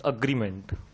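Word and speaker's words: agreement: एंड एग्रीमेंट, अग्रीमेंट, इट्स नॉट एग्रीमेंट, इट्स अग्रीमेंट।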